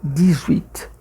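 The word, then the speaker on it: dix: Diz o 10 sozinho em francês, quando junta com uma palavra com som de vogal, já que esse with, o h não tem som, então fica dis.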